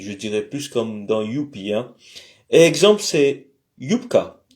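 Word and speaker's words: ю: Ça se prononce comme you, comme en anglais, you, tu. Alors you, I, you, etc. Les pronoms. Alors you, comme dans yoga, mais au fait c'est comme dans youpi, je dirais plus comme dans youpi, hein.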